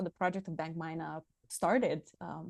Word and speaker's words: Bank Myna: Bank Myna, but maybe you pronounce it better in English. No, no, I prefer Bank Myna.